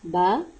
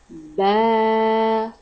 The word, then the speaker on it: ب: Pronounce Ba. Ba. Ba. Very softly.